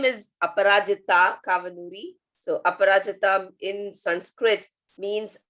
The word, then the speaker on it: Kavanoori: And by the way, your longer name is not Appu, but you're giving me a hard time to pronounce. Yeah. So my name is Appu Kavanoori.